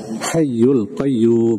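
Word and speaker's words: حي قيوم: ilahailla hual hayyul Qayyum hayyul Qayyum ada tasdid di situ hukum Nabar membacanya bilaada bertasdid hayyul Qayyum nah Tertinggal ya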